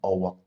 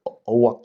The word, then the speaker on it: oak: So he recited the poem about the Owak tree. Hindi ko pa nakita kung ano yung nasan yung poem na iyan. Now his parents corrected him na hindi owak yun. It's an oak tree.